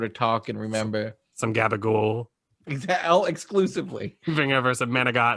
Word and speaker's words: gabagool: But mostly gabagool. Yeah, you know, the real Italians, they cut off the last syllable. Oh, that's interesting. Yeah. Gabagool.